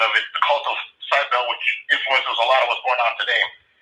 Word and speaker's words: Cybele: Last week, I very briefly mentioned the Greco-Roman cult of Cybele, or it's pronounced in different ways. It's Cybele, Cybele, or spelled with a K sometimes. Kybele, Kybele.